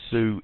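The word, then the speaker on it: Sioux: you need to know is these are the Sue Indians and it's spelled s i o u x Sue pronounced sue the Sue Indians um were living in the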